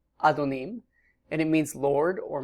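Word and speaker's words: אֲדֹנִים: The first word in the upper right is pronounced Adon, or the plural, Adonim, and it means Lord or Master, masculine noun.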